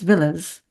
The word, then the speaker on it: Villiers: it's spelled but uh many people that I came in contact with uh who are aristocratic and from those other circles would say it as Villas so Barbara Villas so